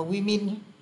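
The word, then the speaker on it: women: đọc là men đó hoặc là Woman cũng thế thì khi đổi sang số nhiều nó thành chữ nó cũng viết là men như thế này nhưng lại đọc là wimin nó rất là dị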